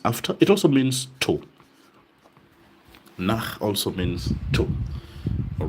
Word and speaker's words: nach: Nach. Now, be careful with the pronunciation of ch. After a o and u remember ch nach. Nach. It's almost like the same voice one makes when you're disgusted.